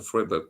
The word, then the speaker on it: Freiburg: I noticed I changed from Freiburg to Freiburg because of this comment. It's pronounced Freiburg. There we go.